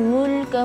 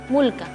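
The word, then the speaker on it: الملك: Karena setelah huruf mim ada sukun, jadi bacanya mulka, mu, jamu atau mu gitu enggak ya? Mu mulka.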